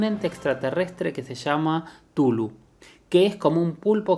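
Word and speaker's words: Cthulhu: Tulu, que se escribe C-T-H-U-L-H-U, Tulu, es una entidad cósmica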